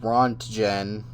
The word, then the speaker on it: Röntgen: Physicist Wilhelm Conrad Röntgen, I think. Röntgen. Whatever the fuck. It's pronounced Röntgen.